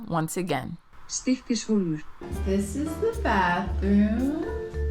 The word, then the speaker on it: Stykkishólmur: So it's time for Google Translate to save my pronunciation once again. Stykkishólmur.